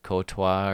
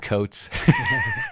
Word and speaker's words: Coates: Liverpool legend Sebastian Courtois, or whatever his name is, Cote. I don't know how you say it. Martin Caceres. How about that? I'd say Coates. Seb Coates. It's Seb Coates, everybody.